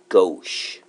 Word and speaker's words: gauche: this kind of a weird word we call it go that's how we pronounce it this is 60°